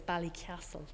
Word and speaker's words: Ballycastle: side of the mountain," which I was taught to pronounce locally as Ballycastle, but I don't think I can really do it justice.